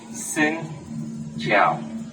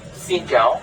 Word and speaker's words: xin chào: So that's why I told you, Xin Chào means hello. But Xin Chào means asking for porridge.